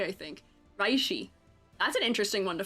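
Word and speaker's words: Reishi: Oh, Rishy is spelled R E I S H I. I think Rishy.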